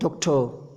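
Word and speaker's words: doctor: तो देखिए डॉक्टर नहीं होता, डॉक्टर लास्ट में आ रहा था वो साइलेंट रहता, टीचर, डॉक्टर, इंजीनियर, ऐसे लास्ट में साइलेंट रहता है, ठीक है ना।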